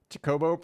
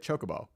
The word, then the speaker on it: Chocobo: Because I'm saying it's Cho, Co, and Bo, right? It's those Cho, Co, and Bo. But what am I saying that's so wrong? Just because I said Chocobo. I'm just speeding up the beginning.